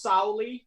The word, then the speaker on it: Soule: Yeah, he calls himself Charles Soule.